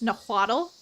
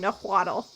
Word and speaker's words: Nahuatl: The TL sound, the L is kind of silent.